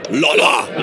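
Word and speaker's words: Lollar: You have to say it, Lahler. Lahler.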